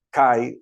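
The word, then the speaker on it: καί: por una conjunción Y esa conjunción la conjunción Kai o c como pronuncian algunos Pues nos ayuda a ver que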